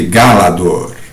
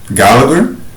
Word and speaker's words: Gálador: O título original da história foi preservado Galador, nem precisar tradução, né? só colocaram o acento agudo em português na primeira sílaba, eh, na história anterior,